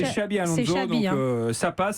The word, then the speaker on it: Xabi Alonso: Là, j'ai entendu Xavier Alonso. Oui, mais bon, c'est Xabi Alonso.